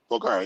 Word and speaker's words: Bulgari: Bulgari.